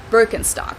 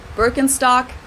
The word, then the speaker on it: Birkenstock: the world nowadays and it's natural that people pronounce it with their native accent so English speakers usually say burkenstock in German we say biren Birkenstock binstock which literally translates to Birch stick the